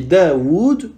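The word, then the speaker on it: داود: Donc on dit Daoud en allongeant malgré qu'on a effacé le deuxième waw.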